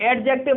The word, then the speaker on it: adjective: ए और जे के बीच में जब भी डी आ जाती है तो क्या हो जाती है? डी वहां पे साइलेंट हो जाती है। इसीलिए आज चैप्टर का नाम एडजेक्टिव ना पढ़ेंगे, क्या पढ़ेंगे हम? एडजेक्टिव।